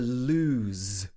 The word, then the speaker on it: lose: is something loose inside so this one has s at the end and the other one has z at the end this is loose okay number two is